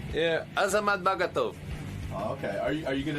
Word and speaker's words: Azamat Bagatov: Yeah, Azamat Bagatov.